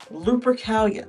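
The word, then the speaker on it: Lupercalia: Lupracalia. Lupricalia. That's how you pronounce it.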